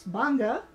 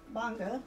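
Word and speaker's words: Gbarnga: I had to learn right away how to pronounce Bonga, which is right up here. See the Bong County? Bonga. So you had to learn, you know, where the G was silent.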